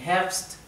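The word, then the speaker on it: Herbst: Primavera soma para verano Health para otoño y venta para invierno la r en hertz se pronuncia casi imperceptible también todas las palabras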